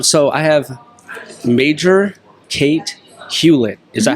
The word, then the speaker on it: Hewlett: your last name yes yep just like Hewlett-Packard that's what I thought and you said a lot of people get my name wrong I thought how it's Hewlett Hewlett-Packard yeah you get you get Hewitt or you know all kinds of variations and spellings and